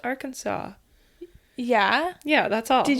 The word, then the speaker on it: Arkansas: to be confused with Aranansas, which is the wrong way to say Arkansas. What? Cuz it's spelled our Kansas, but it's apparently pronounced Arkansas.